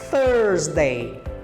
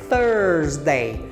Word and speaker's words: Thursday: a pronúncia aí que nesse th a gente tem que colocar a ponta da língua entre os dentes para pronunciá-lo então presta bem atenção nessa pronúncia É thursday thursday e tem sua origem